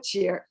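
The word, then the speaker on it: Geri: I'm assuming that's a Gary, which is G-A-R-I, and I'm a Jerry, which is G-E-R-I.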